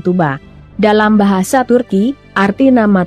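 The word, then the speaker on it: Tuğba: kalangan teman-temannya adalah tugba meskipun ada huruf g dalam nama tugba namun dalam bahasa Turki huruf g itu tidak dibunyikan saat diucapkan karena merupakan huruf halus atau yumusak yang hanya digunakan untuk memperpanjang bacaan dengan demikian nama tugra diucapkan Tuba dalam bahasa Turki arti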